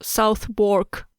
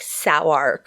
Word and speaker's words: Southwark: Hoare of Southwark. Southwark, yeah. Southwark? Southwark. It's probably like, no, I think it's Southwark, but it's probably like Sowark or something completely different.